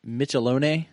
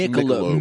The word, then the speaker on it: Michelob: Is it Michelone? Michelone Reserve? Michelob. It's pronounced Michelob.